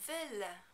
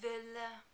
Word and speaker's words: veulent: Also, be very careful not to pronounce the final nt on the end of the verb. This also is not followed by a vowel and therefore is silent. Ils veulent.